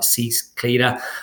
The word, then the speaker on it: CCleaner: It's basically the letter C and then the word cleaner, so like CCleaner.